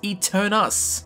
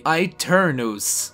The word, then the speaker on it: Aeternus: would have called this eternus but no it is actually an Italian word derived from a Latin word which is exactly the same and pronounced really strangely eternos so yeah if you